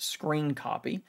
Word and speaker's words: scrcpy: And I know that that says SCR CPY, but it's pronounced screen copy.